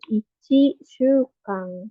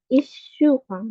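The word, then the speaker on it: 一週間: Cuman memang yang 1 minggu cara bacanya beda ya, bukan ichi shukang, tapi ishukang, double ya. Cara bacanya juga ini ada kecilnya, jadi dibacanya double ishukang.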